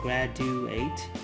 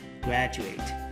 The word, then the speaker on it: graduate: từ graduate từ này để phát âm chính xác thì các bạn phải để ý cho mình cái phụ âm ở giữa đó là phụ âm